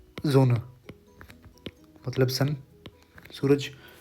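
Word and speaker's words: Sonne: दी जोना जो होता है, तो एस को हम बोलते हैं, लिखा तो एस हुआ है, लेकिन इसको ऐसे प्रोनाउंस करोगे जोना, या फिर हिंदी में लिखूँ तो जोना, या फिर रुको एग्जैक्ट लिखते हैं तो जोना, कुछ इस तरीके से।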